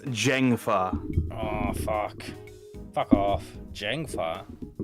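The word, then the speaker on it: Zheng Fa: Valara Kintara says Zeng is pronounced Jeng with a voiced J. What? So it's Jengfa.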